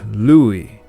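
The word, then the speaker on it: Lughaidh: In Scottish Gaelic, it is sometimes pronounced Lug still, but the Old Irish name Lugith is now pronounced Louis, as in Huey, Dewey, and Louie.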